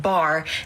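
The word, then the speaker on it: בר: earlier we discussed how bait and race together is pronounced bar which means Sun so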